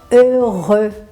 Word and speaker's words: heureux: E nós temos também a palavra heureux. Então, nas duas sílabas você tem o mesmo som, né?